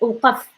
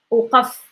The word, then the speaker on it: وقف: If you notice when I go for F, like F like sound funny when I say slower, but وقف وقف وقف. It's like saying like if you are praying but no voice is coming out, so it have to be that.